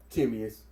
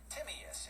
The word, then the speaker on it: Timaeus: Now we was hearing there was basically two pronunciations. You was hearing one pronunciation of the book that of the title of the book that Plato wrote, Timaeus. We was hearing that pronunciation, Timaeus.